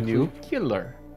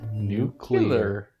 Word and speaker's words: nuclear: no nuclear huh nuclear not new new killer it's pronounced nuclear nuclear it's either no